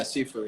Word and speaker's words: Sifu: Yeah, Sifu.